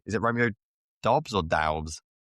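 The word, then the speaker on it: Doubs: I am going to go, is it Romeo Dobbs or Daubs? How is he Romeo pronounced? Dobbs.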